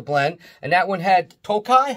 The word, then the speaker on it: Tokaj: And that one had Tokaj. How do you say that? Tokaj.